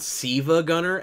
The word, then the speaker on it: SiIvaGunner: It's called Siva Gunner. SIIVAGUNNER. And it's spelled that way. It looks like Silva Gunner.